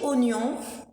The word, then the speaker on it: oignon: On dit oignon, on prononce oignon, mais ça s'écrit oignon, qui est un légume.